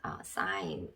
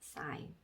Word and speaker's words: sign: G가 나왔고 그 다음에 그 뒤쪽에 N이 붙어 있을 경우에 G는 묵음인 경우가 있다. 그래서 G 밑에는 이제 아무것도 적어주시면 안 되고 그 다음에 N 밑에 여기도 똑같이 N 해서 니은자 적어주시는데 니은자는 앞에 글자에 받침으로 오는 경우가 많다. 자, 그래서 읽어보면 sign 이런 발음이 되겠죠? sign, sign.